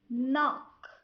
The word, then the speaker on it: knock: When K comes before the letter N at the beginning of a word, K is silent.